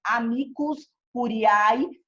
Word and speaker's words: amicus curiae: Se escreve amicus curiae, mas se fala amicus curiae, que é o amigo da corte.